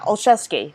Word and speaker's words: Olszewski: Yeah, Olszewski. So that's how you pronounce his last name is Olszewski.